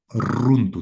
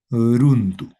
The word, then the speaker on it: runtu: no importa su ubicación, se va a pronunciar siempre como ra, en este caso runtu.